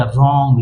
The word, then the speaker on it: wrong: तो जब इसको जोड़ेंगे तो ये क्या हो जाएगा, रॉन्ग।